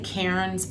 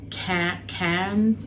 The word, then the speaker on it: Cairns: I came to I would say Kairens but they pronounce it like like can cans or something like that.